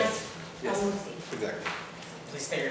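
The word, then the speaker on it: El Moussi: Al-Musi. Exactly. Please state your name, spell your last name. it's spelled S-O-U, F as in Frank, I-A-N-E, and the last name is Al-Musi, E-L, Okay, start again.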